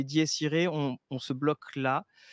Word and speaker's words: Dies Irae: en a parlé he normalement prononciation c'est ditiré on on se bloque